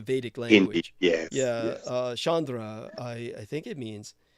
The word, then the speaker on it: Chandra: remember his name and that's how we pronounce Chandra boss think of it in both cases as Chandra Chandra so uh which by